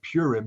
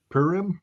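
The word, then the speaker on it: Purim: know what uh and I mispronounced it but it's not purm it's PM I guess the holiday you know what the holiday if they just had it perim um it's the celebration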